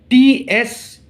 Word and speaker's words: tsunami: See, tsunamis. Tsunamis. Tsunamis are caused by undersea earthquakes. Okay, this is answer should be tsunamis. Though the pronunciation is tsunami, but it starts with T.